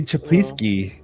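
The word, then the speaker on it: Czaplicki: we mention that last oh yeah Eddie Eddie chapi that's how you say it yes go check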